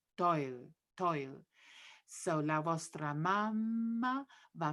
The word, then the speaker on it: fatto il: Toil goes again together, liaison of to and il get put into one syllable. Toil.